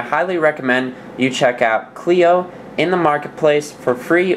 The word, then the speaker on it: Kleio: And I highly recommend you check out Cleo in the marketplace for free or for $2.99. And it's spelled K L E I O.